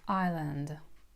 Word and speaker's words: island: In this word there is a silent "s" and it's pronounced as "island". my sister lives on long island The next one.